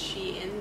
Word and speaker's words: SHEIN: going to be another sheen haul shiny haul shiny ee haul she in sheen yeah we found out that it's actually pronounced she in because it's supposed to be she inside right yep so it's